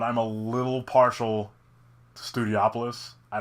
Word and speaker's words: Studiopolis: I've been mispronouncing it as Studiopolis this whole time. It's Studiopolis, which is kind of like a night city TV production like type of thing.